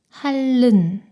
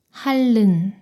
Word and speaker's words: 핥는: 이 단어는 리을 티읕 받침이 리을로 소리가 나고 뒤에 있는 니은이 리을로 발음돼요. 핥는, 핥는.